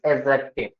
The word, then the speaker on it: adjective: कुछ भी नहीं होता इट्स एडजेक्टिव right D will be silent done और मैंने तो